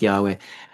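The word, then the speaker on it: YHWH: Um, it's written like this, Y HWH, but it's pronounced Yahweh.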